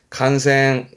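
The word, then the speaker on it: 感染: 이게 감염되는 간생, 간생.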